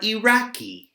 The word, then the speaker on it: Iraqi: Although it's a letter I, we pronounce it like a letter E. People from Bangladesh are Bangladeshi. People from Iraq are Iraqi.